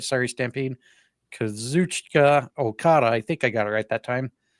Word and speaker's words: Kazuchika: The champion, Kazuchika, I can never pronounce the first name right. Sorry, Stampede. Kazuchika Okada, I think I got it right that time, will be defending against the Hounds of Hell's Brody King.